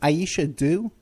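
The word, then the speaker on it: Aisha Dew: Now her name is Aisha Doo. Yeah. Aisha Doo. How do you spell that?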